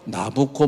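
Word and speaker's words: Nabucco: 그 베르디오페라 그 나부코 나코는 이제 이태리식 발음으로 나부코 뭐뭐뭐 이렇게 나가나 봐요 그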